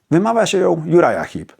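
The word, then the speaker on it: Uriah Heep: It's pronounced Juraja Hip.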